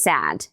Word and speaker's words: sad: O sad a vogal é mais longa, a boca tá mais aberta. Sad, mesma vogal de Apple Cat.